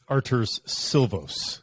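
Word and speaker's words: Artūrs Šilovs: on this show just remember to pronounce it arter's silvos if you do that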